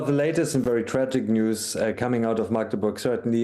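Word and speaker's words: NIUS: Now, to discuss this, I'm pleased to welcome Julian Reichelt, a founder and editor-in-chief of NUS? News. Oh, it's pronounced news.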